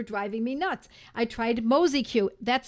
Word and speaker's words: Mozi-Q: Oh, someone recommended Mosquito, says Mindy.